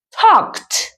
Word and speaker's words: talked: Talk, talked. Fíjate el sonido de la T. Talked.